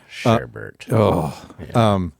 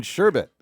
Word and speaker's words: sherbet: You know, or pronounce sherbet with an R. Sherbert. So it gets under people's skin. Wait, it's called shirt. There's no second R in sherbet. Why did that sound like you're saying it wrong? No, I'm saying it right. It's not sherbert. Find the R. Tell me where the R is.